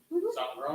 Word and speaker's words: Zongrone: Zongrone That's the correct way to say it. Zongrone. Americans say it Zongrone, Italians say Zongrone.